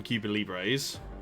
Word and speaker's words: Cuba Libre: You mentioned you're the second person to mention it is Cuba Libres, isn't it? I feel like I'm saying it wrong. Yeah, Cuba Libre. Cuba Libre.